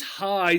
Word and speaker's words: high: Again, the G and the H, sort of like the C and the H. Here, individually silent, usually not pronounced even together do they make a sound. So this high sounds just like high, H-I, right, by itself.